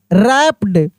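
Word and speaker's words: wrapped: डब्ल्यू आर ए पी रैप डब्ल्यू आर A double P ई डी रैप्ड।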